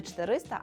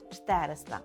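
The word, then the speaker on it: czterysta: Це буде числівник 400, яке польською вимовляємо як 400. 400. Так, не 400, а 400.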